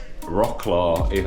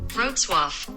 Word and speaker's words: Wrocław: It's Wrocław as I read it, but this is how, you ready? Wrocław.